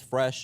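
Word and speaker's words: Fraiche: So, the restaurant's name is Fresh. It's it's spelled F R A I C H E. The French spelling for fresh.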